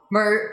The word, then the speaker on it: murder: Actually, this D is like the flat T, which is like the short Spanish R.